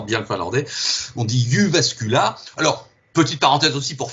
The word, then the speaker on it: Jyväskylä: Entre parenthèses, alors il paraît qu'on dit Jyväskylä. Je ne sais pas si tu as vu cette info aussi. Hein. C'est possible, oui. La prononciation des trémas est un petit peu particulière dans ces langues nordiques.